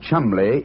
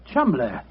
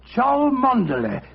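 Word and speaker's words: Cholmondeley: Being an American, he had no reason to know that the name Chumley is in no way pronounced the way it is spelt. Oh, Joe, I never thought of that. Chumley.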